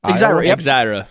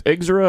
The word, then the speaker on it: Exira: One from Red Cloud, Nebraska, and another one from, and I hope I pronounced this right, Exira. Exira. Yep. I didn't know if it was Exira or Exira.